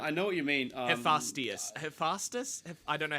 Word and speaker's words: Hephaestus: Hephaestus. I don't know how to. It's not. That's not how you Yeah, I pronounce don't know it, how but to I know what pronounce you it.